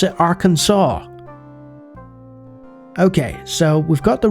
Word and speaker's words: Arkansas: And then you've got another place called Arkansas, but you pronounce it Arkansas.